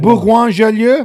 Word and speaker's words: Bourgoin-Jallieu: I can't even pronounce this. Is it Bourgoin-Jallieu?